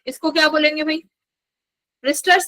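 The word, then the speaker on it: Brewster: ब्रिस्टर्स या क्या? W silent है ना, आई थिंक ब्रिस्टर्स बोलेंगे ना।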